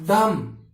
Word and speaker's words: dumb: Next डम, बे को सामने किया है, देखो बी को साइलेंट रखा है, DUMB, DUMB, इस बी को क्या रखा है, साइलेंट रखा है, क्या बोलते हैं, डम, क्या बोलते हैं, डम, आधा ए।